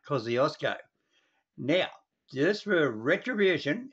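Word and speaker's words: Kosciuszko: yep yep yep yep he said the word wrong it's called mount cosiosco you get back and listen what he said we say mount cosiosco now just for a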